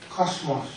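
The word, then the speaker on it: κόσμος: A lot of people pronounce it cosmos. It's not cosmos. I know in English, cosmology is how we translate it. Cosmology, study the world, but in Greek, cosmos. Cosmos. Not a Z, it's a sigma.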